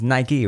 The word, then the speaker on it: Nike: just said Mike uh-huh the appropriate pronunciation is Nike right no Mike I say what the rapper's say they say Knight uh-huh is it cuz